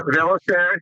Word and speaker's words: Velisaris: Dimitri Velisaris. Am I pronouncing that correctly? Okay. Yeah, Velisaris. Yeah.